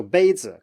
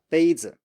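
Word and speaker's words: 杯子: So next up we have first tone plus neutral tone. And this one we looked at before in the lesson about the neutral tone, but let's do it here as well. So 杯子, cup, 杯子. So 杯 is high and flat, and then you have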